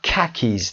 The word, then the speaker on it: khakis: و khakis تلفظ اینجا KH که خونده میشه. khakis لباس هایی هستن که از پارچه‌های مثلا پارچه‌های نظامی که الان هم مد هست به این شکل میپوشن.